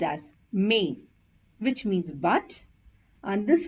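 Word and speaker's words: mais: this is pronounced as May which means but and this is pronounced as ma is because there is a trema over the letter I and a and I has to be pronounced separately hope you understood the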